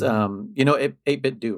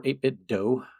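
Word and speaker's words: 8BitDo: I don't know if you guys were there, but it's 8-bit do, right? Or 8-bit dough, I think is the proper way to pronounce it.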